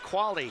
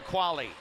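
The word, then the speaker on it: Quale: Quality starts with quali. KV A L E. Qualally real estate. Little in-game promotion there. Tessa Quali, the goalender for the Buffalo Bison.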